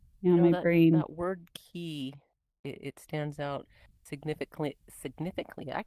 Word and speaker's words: ki: I mean, honestly, a closer pronunciation too is just more like key. So, homonym, broken key. Oh, well, technically it's also broken chi because it's about the flow going into my space, and it's just broken every possible way. So, well, yeah. I meant the word chi as most people in English pronounce it, but in like kind of more traditional pronunciation would just be key.